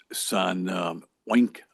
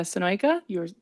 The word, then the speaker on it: Sonoyka: and that's Mayor San Wink. Is that how we should pronounce it? Is that the proper pronunciation? Thank you, Mr. Chairman. My name is Sonoyka.